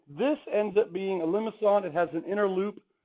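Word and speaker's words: limaçon: don't know it's French there's like a fishhook on the C and that that means that it's a soft C so not limit on but limits on okay and limits on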